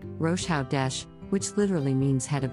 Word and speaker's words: Rosh Hodesh: word is rash hodesh this is a Hebrew word pronounced rosha Dash which literally means head